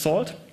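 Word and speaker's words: NaCl: It uses a networking and cryptography lib, pronounced SALT, and it uses elliptic curves for the Diffie-Hellman key exchange, 255-bit public keys.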